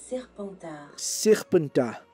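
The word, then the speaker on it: Serpentard: Deixa eu ver qual que é a pronúncia, porque eu provavelmente falei errado. Serpentar. Serpentar é o nome de Slytherin na França.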